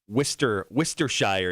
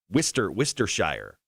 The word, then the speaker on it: Worcestershire: Elaine says pronounce it Worcestershire is the English pronunciation or British pronunciation. What is it? According to Elaine, it's Worcestershire.